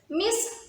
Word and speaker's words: Miss: miss it is miss the s is pronounced as miss as in kiss this you pronounce it